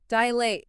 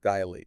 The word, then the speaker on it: dilate: words is putting the stress on the wrong syllable. So it's like we just default to the beginning. We do. Okay. Yeah. Dilate. Dilate.